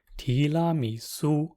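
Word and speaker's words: 提拉米苏: It's pronounced tiramisu.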